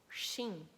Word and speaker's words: Qin: Alguns acreditam que o próprio nome China veio do nome dele, porque em chinês, Qin teria a pronúncia de Xin, então, ou Qin.